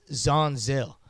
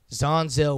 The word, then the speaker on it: Jean Zell: of you guys who don't know how to say my name it's Jean Zell Jean Zell I'm trying to build